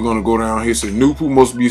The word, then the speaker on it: Nupu: The name of the first personality is Nupu, pronounced Nupu, and it's no coincidence that the letters number of Nupu is number 9 this way.